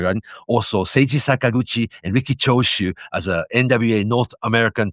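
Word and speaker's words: Riki Choshu: and he pronounced Ricky Chos as Ricky Koshu. Ricky Koshu, right? Anyhow, Sei Sakaguchi and Ricky Chosu, North American tag team champions at the time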